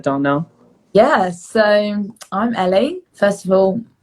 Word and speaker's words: Elle: Yeah, so I'm Ellie. First of all, my name is spelled really weird. So it's Ellie without an I, and like the fruit, like the animal.